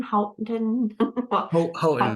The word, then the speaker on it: Houghton: Hey, can we add the MACAE dash in front of, help me with my non-Michigan pronunciation. Is it Houghton? Houghton, yeah.